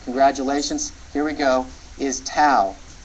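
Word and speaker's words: ת: Now some people will pronounce this as Tav. It doesn't really matter how you pronounce the name of the letter, Tau or Tav. It's the T sound as in toy.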